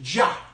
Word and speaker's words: Yah: o el nombre Dios mencionado ahí es el Yah. Y-A-H. Es la contracción del nombre impronunciable de Dios.